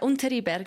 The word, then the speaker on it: Unteriberg: I hope that's the correct pronunciation. Yeah, Unteriberg.